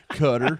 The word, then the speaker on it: Qatar: aside from like even Qatar, or Qatar for the locals. Cutter. Yeah, that's how it's actually pronounced. Cutter? Yeah, it's pronounced Qatar.